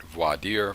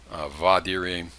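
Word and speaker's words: voir dire: and that brings up voidir i know it's spelled v-o-i-r-d-i-r-e sometimes you'll hear it voidir voidiri vadiri it doesn't matter it's just bad latin you can pronounce it how you like it literally means to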